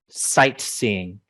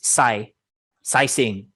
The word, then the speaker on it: sightseeing: it means for you sightseeing get that t at the end of sight so many students will pronounce this psy sizing sigh sing no sight